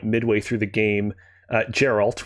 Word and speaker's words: Geralt: through the game uh geralt with a hard g it encounters one of